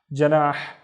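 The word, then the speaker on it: جناح: The first syllable is simply ja, ja. The second syllable is nah, nah, and the na is twice as long because of the alif. Nah, janah, janah is a sweet.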